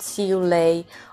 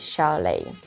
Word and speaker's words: Xiu Lei: And I am talking about Xiu Lei, or as I think the name is pronounced in Chinese, is Xiu Lei.